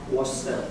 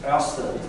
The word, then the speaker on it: Ørsted: It's not Ørsted, it's Ørsted. They don't spell it the right way.